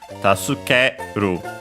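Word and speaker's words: 助ける: Notice also from my pronunciation that we have the U in su barely heard if at all because it's between unvoiced consonants. So yeah, usually taskeru.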